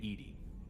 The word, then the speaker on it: EDI: Why are you named EDI? ED is the phonetic pronunciation of EDI. That is an acronym for enhanced defense intelligence. That's all for now. Logging you out, Shepherd. All right, Edy.